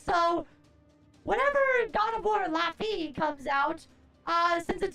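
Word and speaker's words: Laufey: It's Lafi. It's pronounced Lafi. Okay. So, whatever. God of War Lafi comes out.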